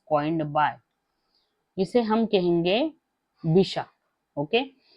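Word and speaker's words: Bichat: French में इसे कहा जाता है बिशा। यहां पे मैं लिख देती हूं बिशा। यह अगर हम पढ़ने जाए तो वो स्पेलिंग कैसे है? बी आई सी एच ए टी इसे बाय चार्ट नहीं पढ़ना है। इसे पढ़ना है बीशा।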